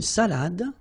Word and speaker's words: salade: Same thing here. Final you don't insist on it. It only gives you the pronunciation of the previous letter. So, d. Salade. Salade.